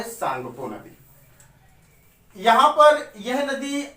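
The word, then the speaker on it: Tsangpo: तो इसको बोलते हैं सांगपो। सांगपो, या कहीं कहीं लिखा जाता है शांपो, या कहीं कहीं ऐसे लिख देते हैं टी सांगपो, टी साइलेंट रहता है।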